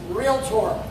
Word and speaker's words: Realtor: The reason this is spelled out like this, it's realtor, not realtor, not relator.